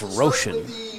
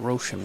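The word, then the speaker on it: Roschen: And for tonight's lineup think it's Roshan is the pronunciation of the pitcher. R O S C H E N Roshan.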